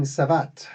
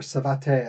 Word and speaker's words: savate: He's using Savat, or Savate. I've heard it pronounced both ways.